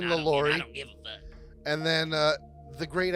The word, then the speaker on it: LaLaurie: oh my gosh Delphine lalori you'll understand I could be mispronouncing that if she was French but I think it's Delphine lalori and then uh the